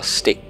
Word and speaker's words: Styx: So now we're in the river Styx. That's how you pronounce it.